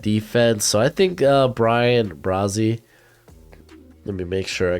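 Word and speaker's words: Bryan Bresee: add to that defense so i think uh brian brazzy let me make sure i got that name right so i go to my pronunciations brian brazie there we go i think would be a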